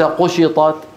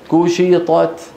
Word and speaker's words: كشطت: وتر قوق ها وتركوك واذا السماء كشطت كو وليس قشطت بسبب وجود الطاء قشطت لا كو كشطت نعم هذا الكاف اللي